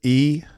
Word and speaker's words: Etienne: And again, if anybody's ever wondering how to pronounce his name, it is E-T-N. It's 3 letters, E-T-N.